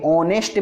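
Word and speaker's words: honest: से आ रही है, ऑनेस्ट मैन, एक ईमानदार आदमी। फिर उसके बाद मतलब यहाँ एच जो है साइलेंट है ना, साइलेंट लेटर है।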